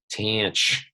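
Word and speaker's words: tanh: of read it gosh tanch that's how people say it the hyperbolic tangent the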